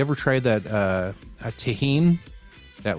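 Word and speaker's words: Tajín: it's reminding me of okay tahin folks t-a-j-i-n that's how you spell it you can usually find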